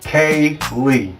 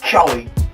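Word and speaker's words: Caylee: handle their business and say her name right say it with me k lee not kelly k lee and her face was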